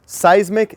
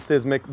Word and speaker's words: Seismic: If you look at the bottle, here's the common name, Seismic CS. Sometimes it's mispronounced as Sismic by me.